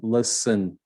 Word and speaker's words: listen: knowledge k is sign listen the t sign must send and the